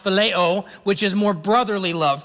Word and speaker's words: phileo: And then we have another Greek word pronounced phileo, which is more brotherly love, friendship love.